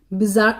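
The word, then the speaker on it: bizarre: Next question हमारा देखिए है बिजार, इसमें डबल आर है लेकिन ये दोनों आर साइलेंट ही होते हैं मोस्टली, अगर सही से पढ़ें।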